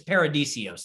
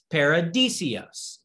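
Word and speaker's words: παράδεισος: is literally just paradise it's paradisios that's how you say it in greek okay paradisios all right so interesting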